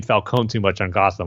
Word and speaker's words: Falcone: I'm hearing the name Falcone too much on Gotham, like forgetting to pronounce it the right way, which is Falcone.